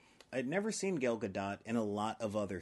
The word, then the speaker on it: Gal Gadot: hey I said it right I'd never seen gal gadot and a lot of other things I'm not